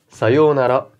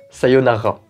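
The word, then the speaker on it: さようなら: terminer par le mont au revoir sayonara et non pas sayonara alors là aussi toujours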